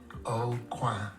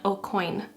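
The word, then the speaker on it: Aucoin: O'Quay. It's O'Quay, like corner in French, not O'Coin, like a silver coin or something.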